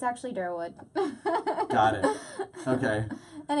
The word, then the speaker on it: Derwood: wood no way yeah Derwood and the proper pronunciation is Derwood mr Wood okay it's um it's a little town that people generally say is Rockville but it's it's actually durwood okay and it's coming your Gaithersburg Rockville in